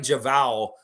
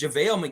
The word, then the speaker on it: JaVale: Javal McGee. I know I caught that too. And I was like, man, he's saying his name wrong. It's JaVale McGee.